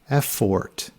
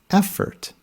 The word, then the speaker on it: effort: pronounced cotton not cotton next is effort remember the o is schwa there's no sound it should not be pronounced as effort it's effort next is lemon many students